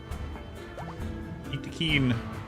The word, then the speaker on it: Yttakin: The developers actually came out and said how it was pronounced when Biotech first came out. Yttakin, from the planet of Yttakin. You normally say it Yttakin.